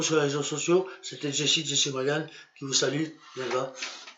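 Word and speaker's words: Jessy O'Magahn: Et mon pseudonyme, c'est Jessie Morgan. Alors ça s'écrit J-E-2-S-Y, plus loin O apostrophe, plus loin M-A-G-A-H-N.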